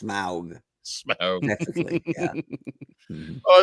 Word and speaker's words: Smaug: I left you here with smog. I think it's actually pronounced Smaug.